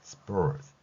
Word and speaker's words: spurs: 우선 spur 여기까지는 한 번에 소리가 납니다. 그리고 시옷은 흘리듯이 발음한다는 것이죠. 따라서 spurs 이렇게 발음한다는 것입니다.